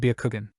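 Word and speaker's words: Byakugan: let out a chuckle it's pronounced shangan and Bakugan I will explain them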